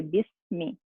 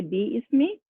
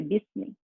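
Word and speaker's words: بِسْمِ: So that's why this ba is directly going to join this scene, and we say bismi. We do not say bi ismi, we say bismi.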